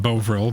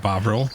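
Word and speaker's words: Bovril: us today boil boil Bine and I was pronouncing it boil but bavil more disturbingly although B intended the book to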